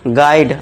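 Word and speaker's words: guide: यदि यू के बाद अगर यू के बाद वोवेल्स हो यानी कि ए, इ, आई, ओ, यू में से कुछ भी हो, तो वहां पे यू हमारा क्या हो जाएगा दोस्तों? साइलेंट हो जाएगा। देखिए कैसे? यू के बाद देखिए वोवेल आ गया। आई। तो यहां पे इसके यू को क्या कर देंगे हम? साइलेंट कर दें। इसे गोवा गाइड नहीं पढ़ेंगे। इसे क्या पढ़ेंगे? गाइड आ का साउंड।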